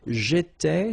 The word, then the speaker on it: j'étais: J'étais, so final S not pronounced.